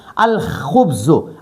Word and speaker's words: الخبز: نو الخبز. ٹھیک شو؟ دا خا د حرف قمریه نه دی. نو حرف قمری نه مخکې چې لام ولګي هغه لام به ادا کیږي، تلفظ به پې کیږي.